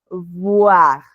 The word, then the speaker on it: voir: En el primer caso, repito, utilizamos dientes superiores, labio inferior, voir. Y en el segundo caso, labio superior, labio inferior, boire, boire, bu, bu.